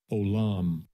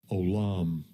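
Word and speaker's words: עוֹלָם: This is the pronunciation. Strong's H 5769. Olam. Olam. Olam.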